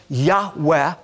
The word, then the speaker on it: Yahweh: And we know that God revealed to Moses that His name was Yud-Heh-Vav-Heh, often pronounced Yahweh.